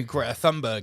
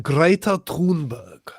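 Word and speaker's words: Greta Thunberg: know about you know great thumberg is obviously oh well it's pronounced it's pronounced greater tberg greater which which which really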